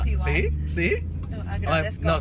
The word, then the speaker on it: Agradezco: How do you say it in Spanish? Agradezco. There you go. Say it again. Agradezco. Uh-huh. Oh, that was aldragesto.